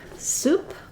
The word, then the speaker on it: soup: we'll focus on so for the word soup we have the spelling is o u for the vowel and for swoop it's oo but these two vowels have the same pron iation so if I'm going to write it in the IPA for soup I'll be using the u vowel and for swoop I'll